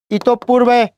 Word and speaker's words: ইতঃপূর্বে: ইতঃপূর্বে খেয়াল করেন, রস্বই তয়কারে তো ইত, দেখেন বিসর্গর পরে কি আছে, প আছে, ওই জন্য পর উচ্চারণ কয়বার, 2 বার।